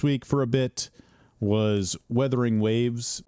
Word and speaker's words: Wuthering: Wuthering, not weathering. I've been trying to pronounce the U more harshly because people were making fun of me. Wuthering Waves. Because I say Wuthering Waves, which it is a U sound, but I think it sounds a little bit more like an I sound. So it sounds like withering.